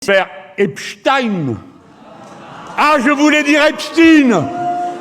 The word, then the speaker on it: Epstein: bien sûr que non, puisqu'il sous-entend que la prononciation Epstein, c'est pour russifier le nom, alors que c'est juste la prononciation américaine de Epstein. Même Epstein, il prononçait son nom Epstein.